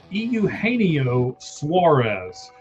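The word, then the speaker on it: Eugenio Suárez: I'm going to help you pronounce his name for you. Euaneio Suarez.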